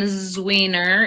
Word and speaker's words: Zwiener: Well, I am Zwiener is how you say that.